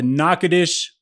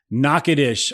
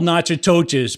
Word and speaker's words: Natchitoches: you today about the knockoutish Louisiana experience knock it ish I finally have it down I said it right just now I'm gonna spell it without screwing it up ready no because I have to look it up because I don't even know how to spell it correctly so n a t c h i t o c h e s Excellence spelled nachatoches but don't say it that way why oh because people